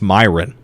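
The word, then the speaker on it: Mirian: in Shadow of War, they say it's Mirren. I know the real way to pronounce that word. That's Myron. It is Myron.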